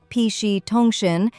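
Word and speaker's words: PC 통신: Psych PC tongqin pronounced pi tongshin is short for personal computer communication.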